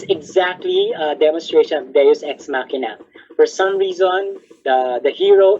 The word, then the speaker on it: Deus Ex Machina: Another is called Deus Ex Machina. Deus Ex Machina. How do you spell that?